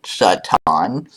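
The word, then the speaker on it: שָׂטָן: was a title so is sat on and that is the pronunciation sat on which means adversary or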